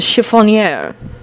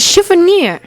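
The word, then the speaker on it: chiffonier: the world is a chiffon year areas Dean in puzzlement pronouncing the odd word chiffon yeah I don't know being shrunk I just spelled it like I was all day it's Shiva near one of the fifth-year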